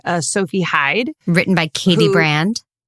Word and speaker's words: Brand: Written by Katie Brand. Rhymes with Grand.